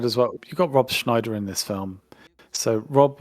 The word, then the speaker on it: Schneider: Yeah, Snyder Sorry, Schneider. I always mispronounce his name.